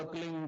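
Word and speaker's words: क्लीं: फैले उसका होता है एक शब्द क्लिंग शब्द क आधा ल में मिला हुआ बड़ी की मात्रा और बिंदी उसका उच्चारण होगा क्लिंग ग ग की ब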